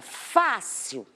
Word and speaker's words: fácil: O fácil, se eu separar as sílabas, eu tenho isso aqui, ó, a última sílaba e a penúltima sílaba. Essa penúltima é a mais forte. Eu tenho o Fá, do fácil mais forte. Então, a classificação dessa palavra é uma paroxítona.